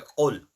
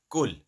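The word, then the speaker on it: قل: But if you say kul with the normal kaf, kul huwallahu ahad, that means eat, Allah is one. Yes. Qul with the thicker tone qaf, that means say.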